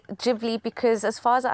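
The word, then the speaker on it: Ghibli: are profound it's massive I just heard you say studio gibli so I've been saying it wrong no so it's actually gibli because as far as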